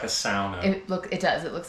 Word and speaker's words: sauna: A sauna is most people call it a sauna. I call it a sauna. That's how it's actually supposed to be pronounced.